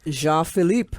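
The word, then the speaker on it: Jean Philippe: i l i p p e and it's pronounced Jean Philip oh Jean Philip Jean Philip John phip m o n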